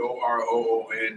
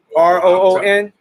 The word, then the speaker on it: octoroon: OCTOROON. It could be pronounced OCTAROON or OCTOROON.